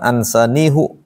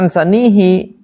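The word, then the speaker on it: أنسانيه: tammalun innahu alimum bidzatiudur sekarang ansaniihu biasa ansanihi sesuai dengan sebelumnya Kalau sebelumnya kasrah dia kasrah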